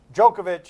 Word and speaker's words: Djokovic: Djokovic is how he pronounces his name.